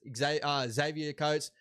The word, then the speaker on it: Xavier Coates: It is Xavier Coates. Sometimes people just pronounce things a little bit different, bro. But I will be better for that in the future. But yeah, it's just obviously something that sometimes I heard people say Xavier.